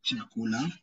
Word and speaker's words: chakula: So the same way you say choice is the same way you pronounce the CH in Kiswahili, the word chakula or chumba.